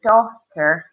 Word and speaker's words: daughter: The G is also silent. Okay. Right? We hit the H and T, so daughter.